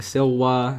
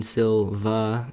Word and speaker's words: silva: in the woods and these are pronounced W in Latin so I keep see saying silwa I mean Silva if it's pronounced in its English form this is grouse so